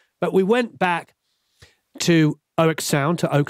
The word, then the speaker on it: Oeksound: seems to be on the oak sound or as i believe it's pronounced ox sound the soothe 2 has